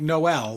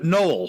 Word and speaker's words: Noel: his books yeah so it's like Noel like uh Christmas n-o-e-l oh Christopher yeah Christopher Noel oh no oh well